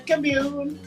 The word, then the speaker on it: commune: say commune commune commute americans put they put the emphasis on the first don't forget i am